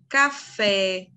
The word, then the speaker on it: café: última sílaba como tônica quer ver café você não fala café ele veio um café vê o que o café um café com açúcar sem açúcar lençol lençol tirar a parte mais forte não é que eu tirei eu coloquei a sílaba koma mais forte mas é errado café não existe café existe a nossa palavrinha